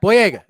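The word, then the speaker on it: Boyega: the jump was it oh yeah yeah yeah blue egg is how you say it absolutely yeah he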